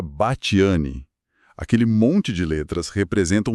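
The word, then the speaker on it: Batthyány: Tipo, você lê Bateriane e pensa numa pronúncia toda complicada. E na verdade hoje se pronuncia bati.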